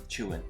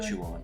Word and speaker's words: Chuan: go check them out I always say his name wrong yeah chewing chewing like chewing food yeah not chew on like chewing gum hello everyone and